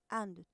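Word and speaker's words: あ: First hiragana mean today you will write one kanji and two hiragana.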